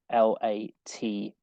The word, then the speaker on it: LaTeX: uh and it's spelled like uh this so l-a-t-e-x but you pronounce it latex um now it's kind of